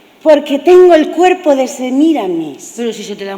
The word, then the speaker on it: Semíramis: El director ha dicho bueno, ha dicho Semiradis, que yo no sé dónde lo has contratado. A ese mejor no hacerle caso. Es Semiramis, con tilde en la I. ¿En qué I? En la primera.